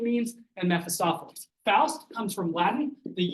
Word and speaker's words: Mephistopheles: And I noticed a lot of people don't like to pronounce that. They say Mephistopheles. It's Mephistopheles.